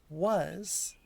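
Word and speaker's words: は: I have, yeah. The first particle on your list, 99, the ha, that's wa. It's the letter ha, but it is written as, or pronounced as wa in spoken Japanese.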